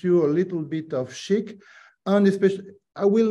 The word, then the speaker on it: SCHC: So SCHC stands static context header compression, but we pronounce it Chic and the future.